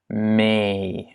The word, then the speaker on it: mee: Et lorsqu'on veut avoir un long E, on va le doubler en néerlandais. Donc ça va avoir l'air comme ça. Donc T en mee.